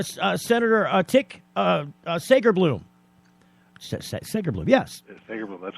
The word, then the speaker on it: Segerblom: Segerblom, that's correct. I'm still questioning that pronunciation.